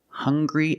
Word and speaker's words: hungry: have these two words hungry and hunger they also make the same sound with the nasal sound and the hard G hung hung hungry remember